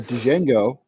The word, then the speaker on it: Django: fantastic he wrote a Django Zoro crossover they made it into a comic book didn't they yes I bet there's a comic book prior to this and it's D Jango the D is silent yeah Nicholas come on